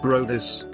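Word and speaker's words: Bryde's: The bride's whale, pronounced Brodis, is named after Joe and Bride, who helped build the first whaling factory in Durban, South Africa in 1909.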